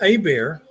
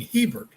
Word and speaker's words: Hebert: days between what Dr a bear now in Louisiana here there's a debate as to whether you should pronounce it in the French a bear or make it English by saying Hebert and I forget what the